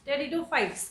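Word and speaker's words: Pteridophytes: ठीक है, टेरिडोफाइट्स क्या बोलते हैं? पी साइलेंट होता है यहाँ पे।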